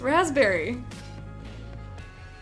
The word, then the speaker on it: raspberry: have a friend who had pronounced the P and raspberry and we aren't friends anymore who does that it's raspberry a Maremma BV hold